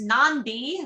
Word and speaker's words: Nadi: Nadi, pronounced Nandi, okay, because he had that N, is Fiji's